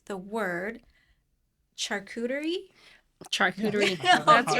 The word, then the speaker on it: charcuterie: Can you guys finally clarify how do you pronounce the word charcuterie? Charcuterie. Yeah. That's Okay. right. That's yeah. Because Charcuterie? I know. Charcuterie. I Yeah. used to call it charcutier.